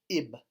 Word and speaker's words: ib: And this is pronounced ib, like IB, again, even though there's no vowels in Egyptian.